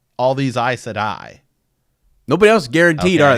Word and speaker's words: Aes Sedai: You know what Aes Sedai rhymes with? Another failed organization from another fandom, Jedi.